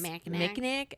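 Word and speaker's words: Mackinac: Is it pronounced Minak Island in Michigan or Macak? It's Mnack.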